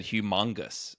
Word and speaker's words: humongous: There's an O there, not a U. And you you said humongous.